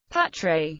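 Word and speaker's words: Πάτρα: Patras, Greek pronunciation, Patre, Latin, Patri, is Greece's third-largest city and the regional capital of western Greece, in northern Peloponnese, 215 kilometers west of Athens.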